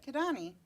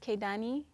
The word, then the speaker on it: Kidane: we have the pleasure of having on Delila kadani hi did I say that correct I did